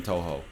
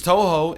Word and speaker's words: Touhou: can dodge that stop playing this start playing Touhou that's how you pronounce that I think every time I say